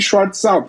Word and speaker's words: Schrar: Então, eu, eu escrevi lá na bio Schart, leia assim que daí ninguém vai mais errar, né?